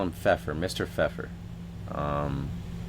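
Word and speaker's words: Pfeffer: Uh I just call him Feffer. Mr. Feffer. Um begins with a P. The P is silent, but Mr. Feffer.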